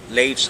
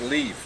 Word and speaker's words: Leif: get it retro I couldn't and it's not leave you know it's late yeah it's l ik e IM and i